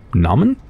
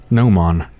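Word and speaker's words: gnomon: a golden shark fin Naaman now it's pronounced Noman it's the projecting piece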